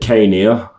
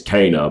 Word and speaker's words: Caina: And then we had, I pronounce it Kania because of, it was pronounced that way in Akuchi the Heartless on PS1. Yeah. It's Caina, but I've been pronouncing it Kania. They tell me it's Kana, but because of video game pronunciation, I've been calling it that.